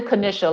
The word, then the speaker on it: Kanisha: It's actually Kanisha, like the Jewish pastry of Kanish.